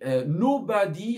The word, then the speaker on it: nobody: Ensuite, il y avait nobody has to provoke nobody. D'accord? Donc là, attention. Nobody. L'accent tonique va être sur la première syllabe, le NO.